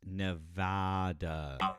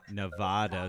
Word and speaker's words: Nevada: Just so you know, it's pronounced Nevada. Nevada.